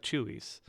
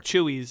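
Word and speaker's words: Chuy's: the tacos I like are at places like Chewies or Natada downtown. So Oh, okay. Like, but they're not really local joints. Like Chewies is my favorite text place.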